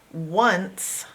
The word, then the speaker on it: once: Once starts with an O, not a W. O-N. One. C. and an E on the end. Once. Now this is breaking some rules here. Now sometimes this sound is an S. In this case it is a C. Once. The only normal sound in here is the end, and C can make the K or the S sound, and S can make the S sound.